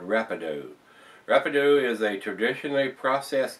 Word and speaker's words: Rapadou: a portal Brew with Haitian Rapido or Rapido I guess that's how it's pronounced guys and they're out